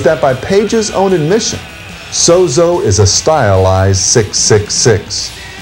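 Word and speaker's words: Zoso: Most rock fans will recognize this hieroglyphic, commonly pronounced Sozo, as the unofficial name for Led Zeppelin's untitled fourth album and the personal symbol for Zeppelin's founder, Jimmy Page.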